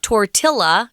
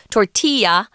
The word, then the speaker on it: tortilla: And when you see that word tortilla, and it's not pronounced tortilla, it's Mexican. It's a Spanish word, so it's tortilla.